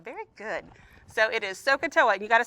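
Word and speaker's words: SOH CAH TOA: So it is Sohcahtoa, and you got to spell it right to use it right.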